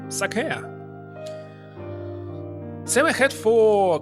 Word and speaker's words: sake: For example, in the wine store, they pronounce sake like sake? Well, it's sake.